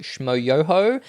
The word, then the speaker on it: Schmoyoho: The most viewed YouTube video of 2010 was Bed Intruder Song by Schmo Yoho, also known as the Gregory Brothers, who we've covered heavy on the yo, accent on the yo.